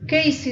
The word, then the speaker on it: Keyssy: Je t'invite aussi à ma page Facebook Casey avec K-E-Y-2-S-Y. comme ça se prononce, L-A-N-D-R-U.